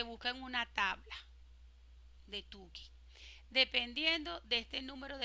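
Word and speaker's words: Tukey: con la prueba de yo siempre le he dicho tuki pero vean Cómo se escribe ustedes que son expertos en inglés me dirán Cómo se pronuncia okay Y ese tuki Aquí está ve Buscar el valor crítico de tuki no es con o es con u tuki cómo lo busco eso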